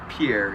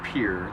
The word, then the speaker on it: Pierre: anywho you laying there it's not pronounced Pierre it's pure there's this uh Nature